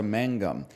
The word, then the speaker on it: magnum: go here we go the Latin Magnum is actually pronounced closer to Mangum with how ancients tended